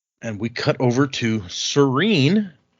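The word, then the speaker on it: Sarene: And we cut over to Serene, who the pronunciation guide says is should be pronounced Sereni, but I think Sereni sounds dumb, so I'm not going to do it.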